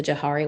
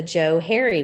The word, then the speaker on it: Johari: gonna discuss this, and I discovered that I've been saying it wrong all along. It's the Joe Harry window, because it's named after a guy named Joe and a guy named Harry or Harrison.